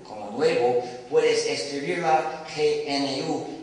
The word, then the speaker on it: GNU: Entonces en inglés se debe pronunciar gnu.